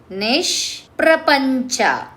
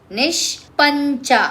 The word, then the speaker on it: ನಿಷ್ಪ್ರಪಂಚ: ಮುಕ್ತ ನಿರ್ವಿಕಾರ ನಿಷ್ ನಿಷ್ಪ್ರಪಂಚ ನಿಷ್ಪ್ರಪಂಚ ನಿಷ್ಪಂಚ ಅಲ್ಲ ಹಾಕಕೊಳ್ರಿ ಉಚ್ಚಾರ ಮಾಡುವಾಗ ನಿಷ್ಪ್ರಪಂಚ ನಿರಾಶ್ರಯ ನಿತ್ಯಮುಕ್ತ ನಿರ್ವಿಕಾರ ನಿಷ್ಪ್ರಪಂಚ